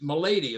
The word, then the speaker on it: Malady: So, you know, Santos never thought about changing my name, but people always, my lady is the way it's pronounced, but Malady, it gets butchered all the time, so...